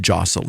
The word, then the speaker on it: deosil: direction is known as deosil in witchcraft it's pronounced Josel in gelic Witter shins is commonly the word